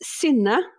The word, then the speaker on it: Synne: both please pronounce your names correctly for me? Okay. So my name is Synne.